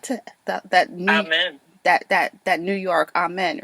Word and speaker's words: Amin: I like to Amen. That New York amen, right? It's like always say the long A, not the short A, the long A. Like, hallelujah, amen. Amen. So it's Amin, though.